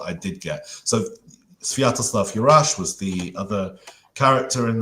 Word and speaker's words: Yurash: Yes, Sviatoslav Yurash.